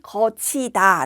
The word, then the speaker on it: 걷히다: 이 를 구개음 화 라고 하며 , " 걷히다 " 는 구개 음화 때문 에 " 거치 다 " 로 발음 되지만 , 발음 대로 쓰는 것 이 아니라 원래 형태 대로 써야 합니다 .